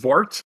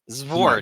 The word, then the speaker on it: Xvart: Well, I think it's pronounced Zvart. Zvart.